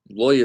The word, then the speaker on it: Levi: Lawyer is how you say it in Hebrew.